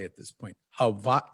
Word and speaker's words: Hawaii: I've been here long enough that I pronounce it correctly at this point. Hawaii.